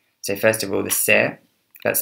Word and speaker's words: cere: So first of all, the cere, that's spelled C-E-R-E, and it's the white bit on the top of the beak, is larger in the feral pigeon.